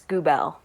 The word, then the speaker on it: Grubelle: fantastic now first question how do you say your last name i'm so sorry it's goobel goobel okay andrea gobell welcome